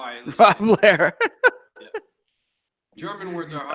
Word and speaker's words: Lehr: I know the way that my dad told me, and it was Lehr, so like A-I-R kind of thing, but I've heard it pronounced Lear.